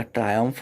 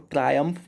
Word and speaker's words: triumph: जब किसी तरीके की आप सफलता हासिल कर लेते हैं तो वो आपका ट्रायम्फ होता है। इसको ट्रायम्फ पढ़ते हैं, बहुत लोग ट्रम्प ट्रियम्फ पढ़ते हैं इसको, बट आप इसका करेक्ट प्रोनाउंसिएशन सीख लें, इसे ट्रायम्फ पढ़ते हैं।